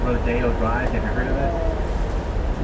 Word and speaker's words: Rodeo: Drive look down the St here right it's pronounced rodeo and not Rodeo it's not Rodeo Rodeo so